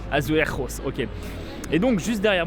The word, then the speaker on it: azulejos: Et donc juste derrière moi en fait on retrouve des bâtiments avec des façades azulejos. Exact, c'est à peu près comme ça, j'arrive pas à le prononcer. Azulejos, voilà exactement.